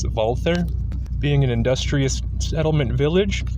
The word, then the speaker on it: Walther: Zea Middle East Germany although commonly people say Walther the correct German pronunciation is wther being an industrious settlement